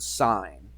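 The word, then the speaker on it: sine: word for it and we use the word sign and it's spelled s i NE the sign of what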